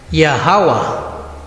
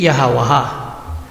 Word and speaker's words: YHWH: basin natin ang yhwh ang basa dito ay yah hawa Bakit yaha hindi yahawah dahil ang a ay binibigkas kapag Mayon pang susunod na syllables kung wala na itong susunod na syllables hindi na bibigkasin ang a tulad ng yada na